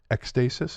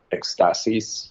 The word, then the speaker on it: Ekstasis: I think it's a Greek word, and I think it's supposed to be like Ekstasis, but okay, we're never going to say it like that.